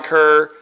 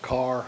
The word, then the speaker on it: Kerr: uh first of all my last name is actually pronounced carr sorry about that all